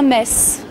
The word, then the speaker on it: Metz: Bienvenue à Mess. C'est bien mess qu'on prononce ici.